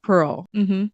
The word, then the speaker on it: Perl: Perl, not spelled the original way, but with the graffiti world, you kind of spell it like different. yeah. But it's Pearl.